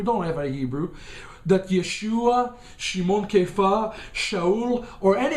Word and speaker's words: Yeshua: are model and yes it's not yahushua it's Yeshua okay Yeshua our Messiah okay